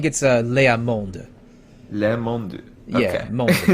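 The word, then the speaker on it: Leá Monde: Because remember, the last word the last letter in every French word, unless it's a vowel or C, F, R, and L, is basically always silent. So the D would be pronounced, but the E wouldn't. So Le Monde.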